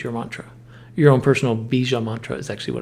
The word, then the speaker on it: Bija: So Om Bija Namaha. That middle syllable is B-I-J-A, if you need a visual.